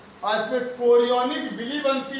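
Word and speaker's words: chorion: अगला कोरियन, अगला डालते हैं कोरियन, अगला स्तर कोरियन। अगला स्तर कोरियन, अगला स्तर कोरियन, कोरियन। स्पेलिंग में चोरियान है लेकिन रहेगा कोरियन, कोरियन।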